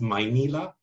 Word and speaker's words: Maynila: Is it in the process of transliterating, leaving untranslated certain phrases that are intelligible, like the word Manila, which is pronounced Maynila by some, including myself, and Maynila by others, and so on, and thus giving a marker for their various backgrounds.